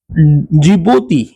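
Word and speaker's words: Djibouti: जिबूती, डी का आप देख रहे हो, DZIBOUTI, ये इधर देखिए, इधर इधर इधर। तो डी साइलेंट है, जिबूती।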